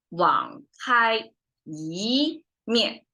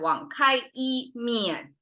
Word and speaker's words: 网开一面: So we have 网开一面 instead. So we rise the tone. So it reach 一, and then from there, 面, it drop down. Instead of 网开一面.